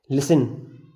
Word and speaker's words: listen: जैसे लिसन, LISTEN, यहाँ पर हमने लिसन आया EN, टी साइलेंट।